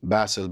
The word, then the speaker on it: BASYL: I would say like, it's BASYL, BASEL, but I just say Bas like the fish because Basel, the city in Switzerland. Basil, the herb, so I should spell it with a Y because why not?